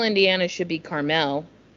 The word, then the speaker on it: Carmel: Caramel Indiana yeah but Carmel Indiana should be Carmel Carmel yeah see it because it's c a r m- l mhm not caramel I don't know I